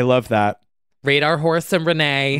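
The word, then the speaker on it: Renaigh: i g h like Renee like nay like a horse because Renee made an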